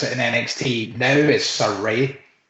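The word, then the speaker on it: Sarray: pronunciations um well the nht name is is pronounced surrey as far as i'm aware because i heard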